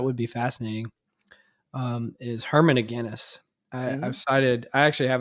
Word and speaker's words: Aguinis: And there was this group of people who literally thought his last name was pronounced Aguinis. No.